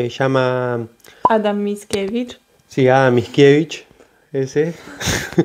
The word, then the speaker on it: Mickiewicz: Sí, Mickiewicz, ese, Mickiewicz, o no lo pronuncien como yo, que es muy interesante por si quieren leerlos, así se llama.